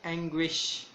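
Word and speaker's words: anguish: एंग्विश means तकलीफ, जिस word इसको हम प्रोनाउंस करेंगे एंग्विश, एंग्विश, एंग्विश तकलीफ को कहते हैं।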